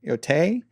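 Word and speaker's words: Yōtei: is the Ghost of Tsushima sequel, Ghost of Yotai. Is that how you say it? Yotai.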